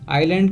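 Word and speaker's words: island: थी नेक्स्ट शब्द आयरलैंड आयरलैंड का मतलब होता है टापू ध्यान रखना यहां पे एस साइलेंट है तो एस को हम प्रोनाउंस नहीं करेंगे हम क्या बोलेंगे आयरलैंड बोलेंगे तो आयरलैंड का मतलब होता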